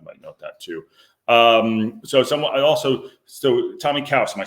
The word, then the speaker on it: Tomi Caws: So Tomi Caws, am I saying it right?